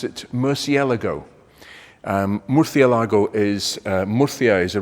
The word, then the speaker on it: Murciélago: So I'll stick to the Spanish pronunciation, because actually Murcielago is Spanish for bat. Yeah, go figure. But anyway, for me, this is a Lamborghini Murcielago, but it's all a